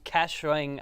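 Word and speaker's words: Kaohsiung: the solar theme solar stadiums uh in Taiwan cashing I think is how it's pronounced have has a stadium shaped like a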